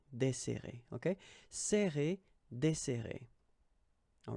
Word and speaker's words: desserrer: and we'll get this desserrer, desserrer. Okay, so we've got this double S, so it will open the sound of the here. That's the reason why I pronounce it like e. Desserrer, desserrer.